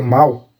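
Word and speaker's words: 猫: o o significado então a palavra mal ela é pronunciada num tom que imita com exatidão mial e de de um gato por isso essa palavra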